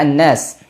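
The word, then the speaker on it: النَّاس: birabbi berikutnya pada kata Annas di sini lamnya tidak dibaca karena pada lam takrif lam tidak dibaca ketika bertemu dengan Nun salah satunya ya sebut dengan hukum Syamsiyah jadi nunnya langsung dibaca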